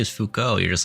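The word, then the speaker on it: Foucault: he looks like a philosopher how do you pronounce that Fuko Fuko ah o oh jeez Fuko yeah no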